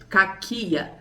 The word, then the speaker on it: κακία: A origem da palavra no grego é com k. K cáquia ou caquia. Vai, a gente tem que ver a a pronúncia correta, que fala assim: "O termo maldade deriva do grego caquia, que significa maldade.